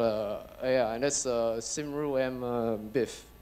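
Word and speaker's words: Cymru: extinct I got a yeah and that's a sim room BIF pronounced like that it means live long Wells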